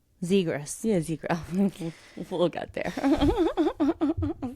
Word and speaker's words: Zegras: Zargis? Vargas? No. Isn't it with a Z? Zegras.